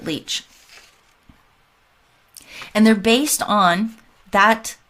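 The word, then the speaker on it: Lich: to tamara lick leach she pronounces it leech and they're based on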